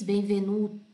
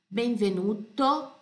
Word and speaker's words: Benvenuto: pelo é o Né em italiano as coisas se pronuncia do jeito que são não tem dois sons para mesma sílaba para a mesma letra Tá ok então Benvenuto Repete comigo todas as